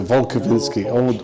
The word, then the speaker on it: Wolkowinski: No, it's a Polish name, there's no V's in Polish, so Wolkowinski, all W's are V's.